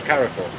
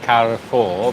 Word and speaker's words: Carrefour: I mean, you can emphasise the E a little bit, Carrefour, but it's not Carrefour. Just weird. Sounds weird saying car. Car. Like in car.